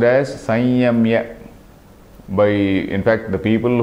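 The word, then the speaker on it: संयम्य: So this samyamya is actually pronounced as sanyamya. by, in fact, the people who actually traditional way of pronouncing or the most correct way of pronouncing is Sanyamya.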